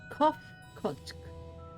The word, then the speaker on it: Kofkotsk: As for nomenclature to address my individual person, I believe it would be pronounced Kofkotsk.